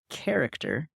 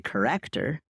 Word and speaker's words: character: But if you look at the word character and they say corrector, you are now saying corrector as in a corrector, which is both a noun.